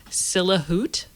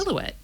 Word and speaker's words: silhouette: it's epitome oh jeff i went through like a good portion of my life saying silla hoot and what is that what is sella hood what is this a silhouette a silhouette like silhouette